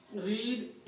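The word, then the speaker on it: read: एस नहीं लगेगा, लेकिन इसका उच्चारण क्या करेंगे, रेड, इसका रीड, इसका रीड,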